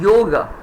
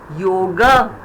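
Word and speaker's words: योग: Ga has got that inbuilt, no, the ga has the inbuilt chota, na, yoga, it's ending there. But in Sanskrit, we say yoga. That subtle is Sanskrit. The moment somebody says yoga, please know he's talking Sanskrit. Yoga. So that is the chote aki matra which is behind that. Yoga. English yoga, Hindi yoga, Sanskrit yoga.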